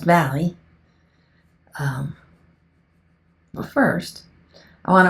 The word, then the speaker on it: Valle: This is pronounced Valley.